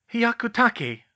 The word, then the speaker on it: Hyakutake: Hyakutake, Harry, Hermione told him. It's Japanese.